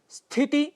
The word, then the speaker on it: स्थिति: स्थिति, इसके लिए स्थिति शब्द का प्रयोग करते हैं, जो गलत है। स्थिति यह इसका शुद्ध उच्चारण है।